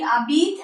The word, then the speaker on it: habite: As you know, H is vowel in French, H is silent, H is mute. So it will be habite and the contraction between it will form t'habite, t'habite.